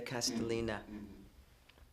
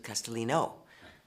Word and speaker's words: Castellina: Julia Castellina. I sometimes get it confused with Castellino, but in fact it's Castellina.